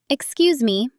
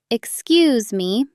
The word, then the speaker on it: Excuse me: Excuse me. The stress is on the cues. Excuse me.